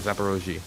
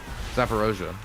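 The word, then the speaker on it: Zaporizhzhia: say it wrong zap it's supposed to be like zaparoji but i always pronounce it wrong zaparoja um when i was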